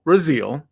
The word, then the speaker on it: Rasile: for the people listening, 2 weeks ago, Michael Raziel, who, in his defense, a lot of people mispronounce his name.